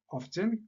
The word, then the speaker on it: often: On a always, usually, or ou bien normally, often, il y en a qui prononcent T, often, c'est pareil, or ou bien frequently, sometimes, occasionally, seldom, hardly ever ou bien rarely et finalement never.